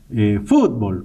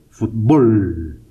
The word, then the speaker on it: fútbol: pero resulta que nosotros los centroamericanos decimos fútbol con acento en la o fútbol entonces se convierte en una palabra aguda y como no termina